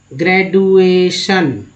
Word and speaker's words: graduation: यानी डी को ज भी बोला जाता है, समझ गए ना।